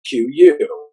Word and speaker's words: QYou: the best of youtube so it's the q and the u but everybody will just call it q like you put the four letters together and pronounce the word q no one does that one person out of a thousand one person i have a thousand does that everybody says cue you and so for the